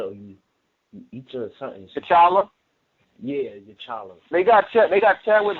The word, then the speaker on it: T'Challa: I forgot how you pronounce his name. You teacher or you. Each or something. T'Challa?